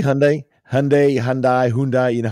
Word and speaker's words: Hyundai: I'm going to actually tell you how you're supposed to pronounce what people say is Hyundai or Hyundai or whatever. It's actually Hyundai.